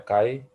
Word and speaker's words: Chi: untuk kayu Square ini ini tulisnya cie dibacanya Kai ini bentuknya seperti ini